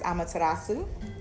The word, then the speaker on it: Amaterasu: um connected to and i don't know i pronounce it as amaterasu that's probably not correct okay but she is